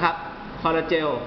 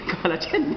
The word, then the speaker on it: คอลลาเจน: เยื่อ เนื้อ นะ ครับ คอลลาเจล นะ ฮะ ออก เสียง ผิด ิ คอลลาเจน ครับ เยื่อ บุตา เป็น เหตุ